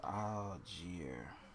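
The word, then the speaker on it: Allgeier: It's Algier.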